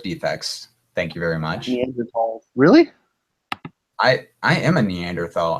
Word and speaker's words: Neanderthal: Neanderthal. Really? I am a Neanderthal. I'm the missing link. It's actually pronounced Neanderthal.